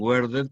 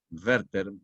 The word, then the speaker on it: Werther: No digan Werther porque no es inglesa, es alemán.